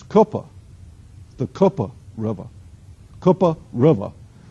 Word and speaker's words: Cooper: flows through there as Cooper as I would they will correct you it's not Cooper it's coopa the KOA River KOA